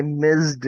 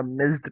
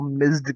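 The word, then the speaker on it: missed: आई मिस्ड, अब ये मिस नहीं होगा, मिस्ड प्रोनाउंस करते हैं। जैसे आपकी जो मोबाइल पे कॉल आती है और आप रिसीव नहीं कर पाते हैं तो वो मिस्ड कॉल होती है, मिस कॉल नहीं होती है, मिस्ड call. It pronounces like मिस्ड call, ठीक है।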